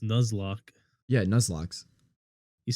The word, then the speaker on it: Nuzlocke: Because it's pronounced Nuzlocke. Yeah, Nuzlocke. You said Nozlocke.